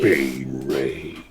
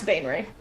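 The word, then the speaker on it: Baenre: will fight jarla um ban Ray so b a e n r e Bane Ray jarla Bane Ray t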